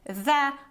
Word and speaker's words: the: this deleted and other but also you say the other because the noun starts with oh it's a vowel so then this the article is pronounced as the the other files I'm afraid I've deleted